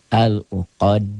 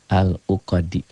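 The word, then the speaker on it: العقد: Kalau dal ini membacanya dihentikan. Al-uqadi dihentikan jadi ada sukunnya. Seakan-akan. Al-uqad.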